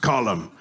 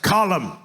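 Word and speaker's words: Colm: It's Colum. It's an Irish name. It's pronounced column. They made me say it wrong because Arthur's a dumb American, but it's pronounced column.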